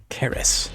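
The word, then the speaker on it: Qaris: Caris. Your fleet approaches. I guess it is pronounced caris. You don't usually see the Q without a U immediately following it.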